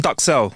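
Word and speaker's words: duxelles: Um, it's called mushroom ductel. That's how you say it. It looks like ducel in French, but it's actually called mushroom ductel.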